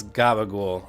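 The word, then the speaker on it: gabagool: It's Gaba ghoul. Um, I mean, it's mostly from the Sopranos is that's how you spell it. Gabbul over here. Gabul is like the maybe Sicilian or New York Italian slang for Capriccola, like the deli meat.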